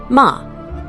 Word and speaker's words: ma: Ma, pronounced ma, written with a single elegant character depicting a gate through which moonlight passes.